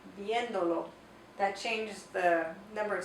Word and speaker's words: viéndolo: Now, because we're tacking that onto the end, we need to add an accent mark, because we want to keep the pronunciation, the emphasis still on the original viendo for this verb. So we want to say viéndolo.